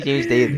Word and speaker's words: Daley: James Daley, James Daley.